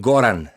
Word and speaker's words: Goran: Ja, gar nicht so schlecht, wenn man bedenkt, wie es dir geht, Gordo. Spricht man deinen Namen so aus? Mein Name ist Goran.